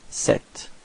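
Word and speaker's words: cet: one is Sir and the second one is set okay so repeat sir and then set all right feminine form set okay so it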